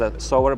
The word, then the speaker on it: SAVER: It should be maybe pronounced as a sower, but me as the author of that, I can afford to say saver, because we got to save something. Yes.